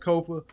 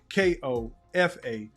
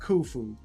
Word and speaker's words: Kofa: I have been your humble host Kofa Ko FA not not kufu not kofi or any variation thereof. Kofa rhymes with sofa easy to say easy to spell.